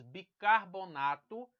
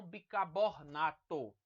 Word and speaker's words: bicarbonato: não carne tá aqui nós temos bicarbonato e não bicabornato muito comum essa né Nós temos muçulmano